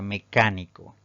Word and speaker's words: mecánico: terminación de la palabra tenemos la palabra mecánico si dividimos en sílabas esta palabra tiene cuatro sílabas pero al pronunciarla la mayor fuerza de voz recae en la antepenúltima sílaba contando de derecha izquierda Entonces es una palabra